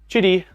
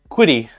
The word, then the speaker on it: Qidi: Trying to say Qidi, like shitty. Yeah, I've always pronounced it Qidi Tech.